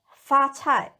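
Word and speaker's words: 发菜: Black moss in Chinese is fa cai. Fa cai. The second Chinese word cai is similar in pronunciation as cai. It means wealth.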